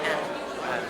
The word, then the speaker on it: Anne: And In Finnish, it's Anne, call me Anne.